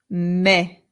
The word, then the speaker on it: me: Now, this word is not me. In Spanish, the e always makes the sound e. So, this word becomes me. Me.